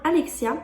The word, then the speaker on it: ALAITKSIA: Je sais qu'il est difficile à prononcer, mais ça veut bien dire Alexia.